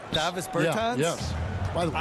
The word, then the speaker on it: Davis Bertans: Davos Bertans. That's so dirty. Is that how you say his name? Huh? Davis Bertans. Davis Bertans?